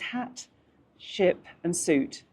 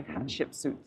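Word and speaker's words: Hatshepsut: Hat Hat Queen Hat Sheport and he said to pronounce it is hat ship and suit, you know. So, hat ship suit.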